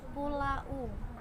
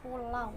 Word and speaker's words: pulau: Karena siswa taunya adalah huruf U, bacanya U, dia akan membaca pulau. Padahal cara membacanya adalah pulau, mati huruf W.